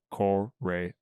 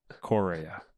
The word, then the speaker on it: Correa: And I learned that I still cannot pronounce his last name. Correa. Oh, look at you Correa. go. Correa.